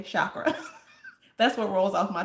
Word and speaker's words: chakra: energy centers or um let me say it this way one time to make Jatin happy. Chakra. Jaten says you it it's it's chakra. It's chakra. You you Americans, y'all say shakra.